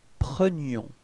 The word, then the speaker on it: prenions: So you can see that the only way to make the difference between présent and imparfait, it's this I. So the y sound, okay?